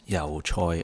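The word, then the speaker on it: yau choy: here i use yujoy in cantonese pronounced yao choi or choi sam i bought about two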